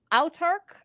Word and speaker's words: Autarch: You can check out it's Autark. Is that how it's Autark.